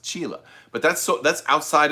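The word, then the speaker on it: Csilla: chila i used to thought it was called cilia uh throne's home planet the chisholm world it's called it's pronounced chile but that's so that's outside of the like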